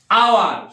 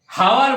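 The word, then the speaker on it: hour: আওয়ার সময় যেটা ঘন্টা, হাওয়ার বলবো না, আওয়ার, তাই আওয়ার দেখো ও আসছে বলে কি হলো, অ্যান।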